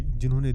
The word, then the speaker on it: Jean: इनके नाम का सही प्रोनाउंसिएशन है जॉन पॉल सार्त्र, लेकिन जब हम इनके नाम को लिखते हैं तब हम जीन पॉल सार्त्रे लिखते हैं।